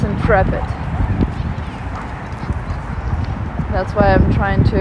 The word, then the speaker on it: Intrepid: can see it now I always confuse it with in interpret but it's Intrepid that's why I'm trying